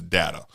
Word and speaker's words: data: So prior to Star Trek, the preferred pronunciation of that word was data, especially in America. Really? Yes. I did not know that. Jean-Luc Picard, Patrick Stewart, comes along with his English accent, pronounces it data.